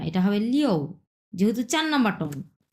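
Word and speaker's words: 六: হবে না এটা হবে লিও যেহেতু চার নাম্বার টন চার নাম্বার টন যেহেতু সেই ক্ষেত্রে আপনার হবে লিও এর আগে আমরা কি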